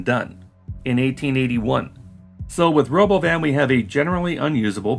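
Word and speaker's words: Robovan: do you know why musk is butchering the pronunciation of Robo van calling it The Roven the Roven the Roven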